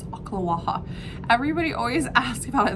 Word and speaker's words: Ocala: It's Ocala. Everybody always asks about it. There's like the Ocala. Sounds like they're coughing something up.